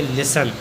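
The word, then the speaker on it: listen: चलो एग्जांपल देखते हैं एल आई एस टीई एन यहां पर टीई एन आया है तो एस साइलेंट होगा इसे लिखेंगे लिसन अगला है एम ए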